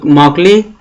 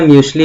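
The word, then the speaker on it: Mauchly: JP accord और जेडब्ल्यू म्यूकली। कुछ लोग मॉकली या म्यूकली या म्यूसली भी कहते हैं, तो ये इंग्लिश प्रोनाउंसिएशन है, वो अपने जो भी हैं अपने सुविधा अनुसार आप उसको पढ़ सकते हैं।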